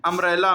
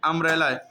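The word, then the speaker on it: umbrella: यू को आ कब पढ़ते हैं? अम्ब्रेला में, यू एम बी आर E double L ए, अम्ब्रेला, अम्ब्रेला। बी को नहीं पढ़ेंगे।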